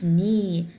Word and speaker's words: knee: Yes, it's knee, not knee, it's knee. Excellent, so the K here is silent.